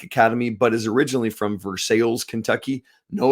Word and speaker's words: Versailles: but is originally from versales Kentucky no it's not Versailles and Kentucky they pronounce it ver sales I kid you not